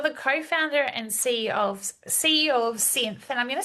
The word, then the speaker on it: Psynth: You're the co-founder and CEO of Synth, and I'm going to spell it.